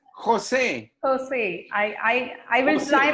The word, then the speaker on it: Jose: No, it's Jose. Jose, I will Jose, try my yes, level like best. San Jose, California. Yeah, You know San Jose, California? yeah, Yeah, it's the same pronunciation.